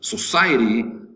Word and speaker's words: society: Society, 3 syllables. Society Society. The accent is over the second syllable, society.